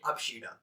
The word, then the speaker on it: Abschiede: that is if E in the last of the word, we say E as A, right?